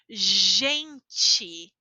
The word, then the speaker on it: gente: e nós dizemos já o nome da letra é GG então a pronúncia é gente gente girar certo g a